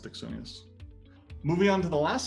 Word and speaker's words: Axonius: It's pronounced Axonius.